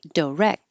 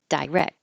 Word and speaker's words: direct: a title Marquee Marque you can say direct or direct most words that end with di uh most General Americans are going to change that to Du or D but you will hear people say die so uh direct direct um D diverse diverse so you'll hear it both ways but I do think the DU or the D is more common and wreck you won't